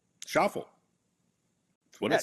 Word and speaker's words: Schauffele: You should never have a name that rhymes with awful.